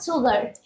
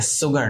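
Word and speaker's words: sugar: মিক্স দ্য সুগার। মিক্স দ্য সুগার। সুগার। আচ্ছা, আমি উচ্চারণটা একটু ঠিক করে দিচ্ছি, এটা সুগার না, উচ্চারণটা হবে সুগা।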